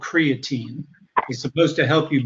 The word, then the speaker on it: creatine: I believe yes but Larry is actually mispronouncing the protein he's talking about is creatine it's different from creatinine his health supplement is called creatine he's supposed to help